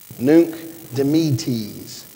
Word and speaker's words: Nunc Dimittis: I had to call a friend so that he could teach me how to pronounce it. It's nice to know a guy. Nunc Dimittis.